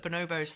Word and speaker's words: Bonobos: Actually, Bonobos.